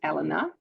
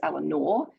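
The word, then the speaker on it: Eleanor: correctly um because uh I'm from the UK and in the UK we pronounce it Elena um and yet I come to the States and it's Elanor um when people say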